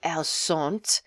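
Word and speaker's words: elles: feminine so it' be El and the S is silent so even though L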